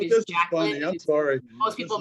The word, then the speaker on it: Jacqueline: mispronounced which is pretty common my name is Jacqueline I'm sorry most people mispronounce it so I just stopped and I